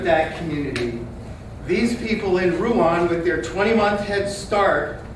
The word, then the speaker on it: Rouen: We should say that word the way they pronounce it. Rouen in France.